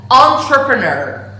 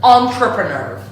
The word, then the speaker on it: entrepreneur: And the correct pronunciation is to start the pronunciation of this word with the syllable on. Entrepreneur. Entrepreneur.